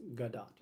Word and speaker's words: Gadot: saying her name wrong her last name doesn't rhyme with the word dough the T on her last name is not silent it's pronounced gadot okay so jimmy fallon's correct